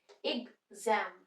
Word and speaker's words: exam: pronounce हो सकते हैं एग्जाम इग से प्रोनाउंस होता है जैसे देखो ये एग्जाम बोलते हैं हम यहां पे ई से स्टार्ट हो रहा है शॉर्ट ई से इग जम इग जम जम पे स्ट्रेस